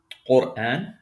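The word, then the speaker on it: قرآن: So this is qaf, dhamma, ra sukun, qur. This ra is going to be pronounced heavy. Quran.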